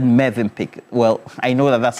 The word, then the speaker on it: Mövenpick: Phil Kese is wondering why I said Mövenpick. Well, I know that that's how it's pronounced.